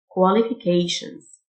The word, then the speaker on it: qualifications: TIO تنطق شه Qualifications.